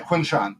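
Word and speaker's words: Quinshon: Yeah, Quinshawn.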